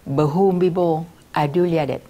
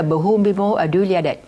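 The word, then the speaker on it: Bhumibol Adulyadej: đọc tên của quốc vương Thái Lan là Bumibo Adulyadej. Vì tôi được dạy đọc từ hồi đó là Bumibo Adulyadej.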